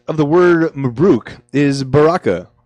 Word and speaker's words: baraka: The root of the word Mabruk is baraka, pronounced this way.